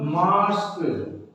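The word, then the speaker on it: mask: For example मास्क, तो ए के बाद क्या आ गया?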